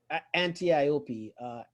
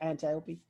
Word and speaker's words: Antiope: Antiope. Am I saying it right? Antiope. How do you say it, Jenna? I said it right? Antiope.